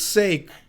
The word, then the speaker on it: Sake: It's pronounced sake, like, oh, for fuck's sake, this guy again.